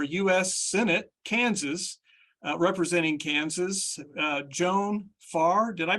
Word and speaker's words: Joan Farr: Senate, Kansas, representing Kansas, Joan Farr. Did I pronounce that correctly, Joan?